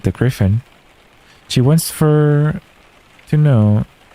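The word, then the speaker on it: Gryphon: It's Griffin. Okay. Like Gryffindor, I guess. Griffin.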